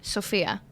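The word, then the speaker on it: Σοφία: How do you pronounce your name in Greek? Sophia. But like the S is like shh. Sophia.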